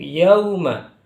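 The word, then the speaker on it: يَوْمَ: Jadi jangan sampai ketika ada wawu sukun bacanya seperti huruf O, jangan. Tapi huruf U, mirip dengan huruf U, yauma.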